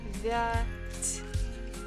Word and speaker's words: девять: Девять. Stress falls on first syllable. Девять. Девять. Again, ya is not stressed. This is again, we pronounce it as E.